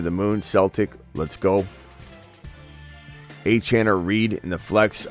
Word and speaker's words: Achane: Achane, it's Achane, not Achane hybrid. Get it right.